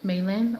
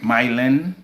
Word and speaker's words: Mylin: Maylin or Mylin? Mylin.